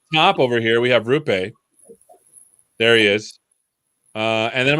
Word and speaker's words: Roope: So I've been saying it wrong. It's Rupe. Roll that R's.